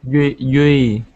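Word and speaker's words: Duy: Dewey? Yui. Yui? Yes. Okay. So the D is pronounced kind of like we pronounce the Y. Yui.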